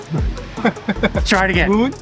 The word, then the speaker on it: Bún: Bún! Bún? Bún... Ừ. Nó phải đi lên.